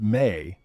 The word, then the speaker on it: me: The me in Sumerian, pronounced may, are not simply objects or ornaments.